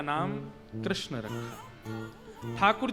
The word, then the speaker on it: कृष्ण: ठाकुर जी का नाम लोग अधिकतर कृष्ण शब्द का उच्चारण गलत करते हैं। कई लोग कृष्ण कहते हैं। कई लोग कृष्णा बोलते हैं। कई लोग कृष्ण बोलते हैं। बहुत उच्चारण उसका शुद्ध नहीं कर पाते। शुद्ध उच्चारण कृष्ण जय बोलो वृंदावन बिहारी लाल